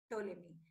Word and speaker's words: Ptolemy: Ptolemy. P is silent. So the spelling is there. You can see on your screen. Ptolemy.